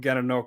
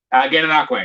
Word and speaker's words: Gananoque: I believe you're from Gananoque originally, right? Gananoque, yeah. Gananoque, awesome. Yeah, right place. I just pronounced it completely wrong.